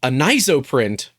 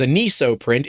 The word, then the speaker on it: Anisoprint: So it's, well, we were saying it wrong the whole time as Anisoprint. It's not. It's Anisoprint, like anisotropic and 3D printing.